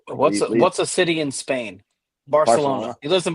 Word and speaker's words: Barcelona: Barcelona. He lives in Barcelona. Yeah. Yeah, and then they say it like Barcelona, like they have a lisp.